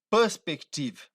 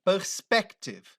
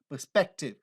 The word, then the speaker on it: perspective: a pronúncia correta é Perspective Então olha só o stress é um pouco mais na frente o estress da pronúncia da voz Perspective ao invés de Perspective entende então isso seu